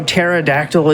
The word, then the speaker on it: pterodactyl: we talk about how pterodactyl is pronounced with a t but still spelled first with a p who came up with